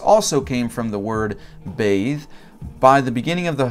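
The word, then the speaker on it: bheidh: So it started off in the post-Indo-European, Faith started off in the Pi language as B-H-E-I-D-H, and it is pronounced bathe, and it means to trust, confide, and persuade.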